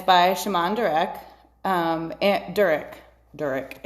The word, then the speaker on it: Durek: Durek is how you say it.